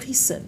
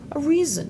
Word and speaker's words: reason: Dans d'autres mots, il va se prononcer comme Z. Basic, basic, music, design, reason. Je sais pas quelle est la règle pour ça. Moi, je l'ai appris simplement. Donc, quand vous apprenez les mots, apprenez aussi la manière dont il se prononce. Faut pas confondre le S, le vous allez pas dire reason, vous allez dire, reason.